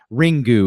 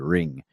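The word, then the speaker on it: Ringu: translated it so this ring GU is what it's known as over here but really in Japanese you wouldn't pronounce the you it'd just be a ring and same premise same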